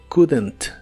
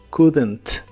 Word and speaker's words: couldn't: usar couldn't correctamente uno la pronunciación de Kent es muy fácil no pronuncias la o ni la l de esta palabra pero sí le agreg as un sonido como de e muy suave entre la d y la n para que se pueda pronunciar mejor couldn't couldn't dos